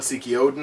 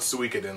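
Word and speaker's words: Suikoden: it wrong suen 2 I always used to call it Seiki Odin it's still SE Odin to me it's still SE Odin to him but um um you know pay Michael respects call it call it sueden like it's supposed to be called uh suin 2 um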